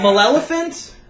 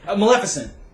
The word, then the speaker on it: Maleficent: it wrong all day msant msant msant msant melephant M elephant malefant Maleficent that that's the one malef Maleficent right ment